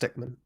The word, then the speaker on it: Henry Stickmin: It's pronounced Stickman. It's pronounced Stickman.